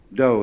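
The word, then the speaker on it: dō: called in Japanese Judo do is the Japanese way of pronouncing da The Gentle Way and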